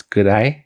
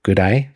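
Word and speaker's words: ぐらい: I mean, I guess if you said it very slowly, it would be, but instead it's gurai, that a and e combine to make an I sound like your I, gurai.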